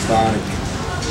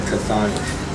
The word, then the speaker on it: Chthonic: The right pronunciation is CHTHONIC, but most of the Western fans pronounce like CHTHONIC, so we don't really care now.